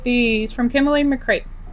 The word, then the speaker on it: McCreight: So, the next one is Friends Like These from Kimberly McCreight. I think I pronounced it right cuz it's like freight but with a C.